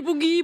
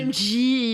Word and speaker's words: Bungie: pense que je vais faire plus d'erreurs de prononciation des studios parce que dans le chat ils sont tous Ils ont dit boogie, boogie, boogie. bong, bong, bong, bong. C'est le Oui, boogie, c'est boogie. Bungie, il le C'est sait.